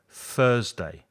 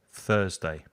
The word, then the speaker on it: Thursday: tuesday tuesday and thursday put your tongue between your teeth for the f sound thursday exactly the same as thank you so much tuesday thursday and with numbers when